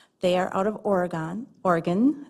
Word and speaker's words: Oregon: Oregon I think is how they pronounce it in Oregon.